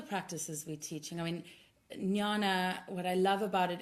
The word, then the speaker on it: jnana: It's spelled Jnana.